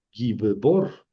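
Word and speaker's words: גִּבּוֹר: Gibbor, que quiere decir fuerte, ¿verdad?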